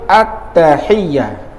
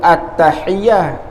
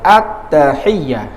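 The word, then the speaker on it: التحيات: tak jadi lagu mana nak bacanya attahiyah atas bukan sebut attahiah atas kalau sebut attahiah makna lafaz tersebut kena sebut semula sebab kita telah menambah huruf sebab pada lafaz tersebut naknya attahiyah bukan per sebut attahiah tak jadi tu Kena per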